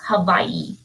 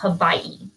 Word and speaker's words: Hawaii: all the natives so the w makes a v sound so it's actually they actually say it's hawaii that's how it's pronounced hawaii so they could tell we were from texas very quickly okay number 14.